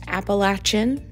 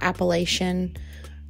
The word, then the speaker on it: Appalachian: just want to point out that appalachin is pronounced appalachin not Appalachian appalachin that was kind of close not Appalachian